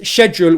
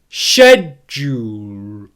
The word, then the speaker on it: schedule: Let's put them together with the correct stress. Schedule, schedule, schedule, schedule. What you get is that j sound in the middle becomes a connecting syllable. It connects the two syllables together. Schedule, schedule, schedule. Can you hear there how the ʃedʒ is louder, stronger, and produced with more force than the uhl? That's because it is a stressed syllable in English.